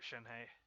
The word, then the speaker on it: Shenhe: so glad i got shen hey because it's it's it's pronounced s-h-e-n-h-e-h it's like shin hey sacred name fortune preserver